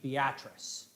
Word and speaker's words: Beatrice: this all happened in a small town in nebraska named beatrice and yes they say it like that i i i struggled